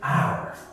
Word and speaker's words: hour: So just remember, because it's easier to pronounce, that's what we do. There's one special case. The word hour.